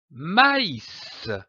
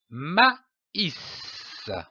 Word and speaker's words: maïs: très m'as indique que la voyelle qui précède doit être prononcée séparément comme par exemple du maïs maïs je lis un mot